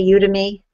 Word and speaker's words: Udemy: But he has a great online course for ebooks on, am I saying it correctly when I say Udemy?